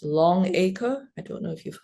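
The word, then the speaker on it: Longaker: I guess you pronounce it as Longacre.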